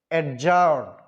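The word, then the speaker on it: adjourn: তোমরা এখানে দেখা যাচ্ছে অ্যাডজার্ন। অ্যাডজার্ন মানে কি করা? মুলতবি করা। মূলত আপনারা যে তোমরা যেই এরপরে ডি দেখতে পাচ্ছ, এই ডিটা উচ্চারণ হবে না, সাইলেন্ট থাকবে।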